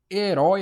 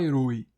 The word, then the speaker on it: herói: Herói, a gente não fala heroi, a gente fala herói.